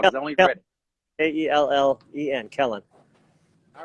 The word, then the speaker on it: Kellen: So let's talk a little bit about Kellen. Kellen or Kalen? How do you say his name, first of all? Because I only read it. K-E-L-L-E-N, Kellen.